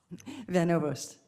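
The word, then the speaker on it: Van Ovost: General Van Overst, is that how you say it? Van Overst. Okay, I'm sorry we don't pronounce that often from Oklahoma.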